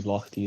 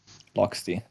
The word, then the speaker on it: Loxty: I don't actually know how you would pronounce that name. Maybe Lochty is better. Hello, Trogo. Loxty. Okay, I was saying it right.